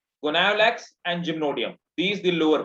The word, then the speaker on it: Gonyaulax: Yes, That is sir, Goniolax. blur. GonyauLax, and you will pronunciate it Goniolax.